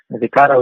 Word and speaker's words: Vecado: Vecado is a pretty unique name. It's 3 syllables, and what it stands for is vegan, CA cat, and DO dog.